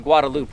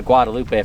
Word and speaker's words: Guadalupe: All I know is we're not on the Guadaloop River, which I just recently learned how to pronounce properly. Been calling a Guadalupe for about 7 years.